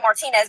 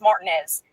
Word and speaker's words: Martinez: And it looks spelled like Martinez, but it's Martinez.